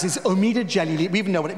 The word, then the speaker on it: Omid Djalili: even get my name right because we can pronounce this omeda jelly we even know what it means omid means